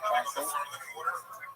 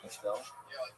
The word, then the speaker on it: Castle: Because I mispronounced his name for over a week. I called it Castell. I wasn't joking around. I thought that's what it was. Castell. For some reason, somebody said, oh, it's like the word, like this word. It's pronounced like this word. Now, that word to me means Castell. That's how Castell wine. I believe that's how they pronounce it. Castell. No, obviously it's Castle.